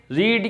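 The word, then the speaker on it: read: ये है वो लिख दिया इसके बाद में रीड की बाकी जो वर्ग होती है बोलने में रेड बोलते हैं लेकिन स्पेलिंग वही होती है यानी की दे है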